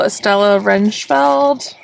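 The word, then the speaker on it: Estella Rijnveld: salvage the very last pickings here's a couple Estella renfeld that's how you pronounce it you can see this one just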